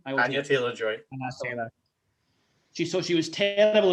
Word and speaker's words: Anya Taylor-Joy: I'm a lover of Anna Taylor-Joy or Joy Taylor. Which way around do you say her name? Anya Taylor-Joy.